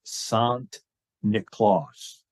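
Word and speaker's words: Sint Nicolaas: So the Dutch pronunciation of Saint Nicholas is Sant Nicolaas.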